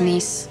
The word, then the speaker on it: Nice: It's pronounced niece.